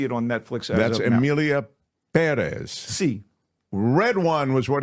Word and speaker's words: Pérez: miss it you haven't really missed much Amelia Perez or Perez because the accent is on the uh first syllable C A thoroughly original topical a showcase